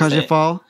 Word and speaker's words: La Cage aux Folles: La Cage aux Folles?